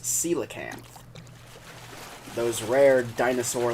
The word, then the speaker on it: coelacanth: learned how to say it now they are pronounced coelacanth those rare dinosaur like fish that only come